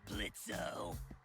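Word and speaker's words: Blitzø: it oh dear sure blitzo the O is silent now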